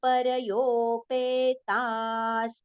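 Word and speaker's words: परयोपेताः: Per, complete pronunciation. It is not par. It is parayopetas. Ta we have to prolong and then the visarga sound partial sa. Parayopetas.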